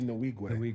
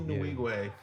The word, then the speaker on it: Nwigwe: Toby Nwigwe. Toby Nwigwe.